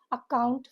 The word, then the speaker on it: account: Stress is on the second syllable, the last syllable, so it is account. Focus how the pronunciation is A-U-H and count, C-K sound, K-O-U-N-T.